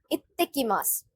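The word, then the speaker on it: いってきます: We have to stress the next letter.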